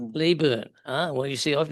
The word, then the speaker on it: Leyburn: Leeburn. Ah. Well, you see, I've never been there. Yeah. I always used to call it Leburn, but then the um I got picked up by the locals.